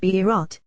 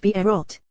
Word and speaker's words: Beerot: It is spelled Beerot, the well of, in the feminine form, and it was just one well, as is written, Beersheba, well of 7. But it is pronounced Beerot, wells, to indicate that there were many, since the well appeared